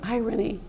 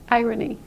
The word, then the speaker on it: irony: on the other hand this word irony is irony irony so irony iron another thing I want